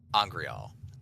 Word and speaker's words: angreal: Angreal.